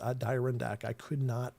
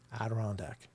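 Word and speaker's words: Adirondack: Do you know I couldn't say Aderandac to save my life for a long time. I would always pronounce it a direc. But it took me forever to be able to say aderondac.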